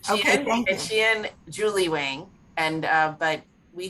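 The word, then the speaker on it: Qian: And in September, we've got a book called A Beautiful Country, and that's by Kian Wang, W-A-N-G. Actually, her name is pronounced Xian. Xian. Okay, thank you. Xian Julie Wang.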